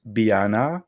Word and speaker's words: Beanna: your name oh um so it's meant to be pronounced Biana but be nice final